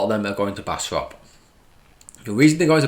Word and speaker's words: Bastrop: test tunnel and bastrop and that's how you pronounce it bastrop test tunnel these are important kind of learning